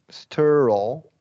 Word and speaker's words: sterile: Sterile. Okay, yeah. And so that's where it kind of gets tricky. That's going to be a short E before the R.